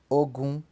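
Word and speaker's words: ogún: Então 20 pronuncia-se ogum, 30 pronuncia-se obon, obon, 40 pronuncia-se ogodi, perdão, 40 pronuncia-se ogodi, não ogodi, ogodi, tá?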